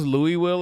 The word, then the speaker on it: Louisville: Did you hear how we pronounce Louisville in Kentucky?